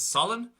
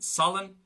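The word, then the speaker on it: salann: Same thing then for S, the word for salt is solan, so normal sharp pronunciation, solan.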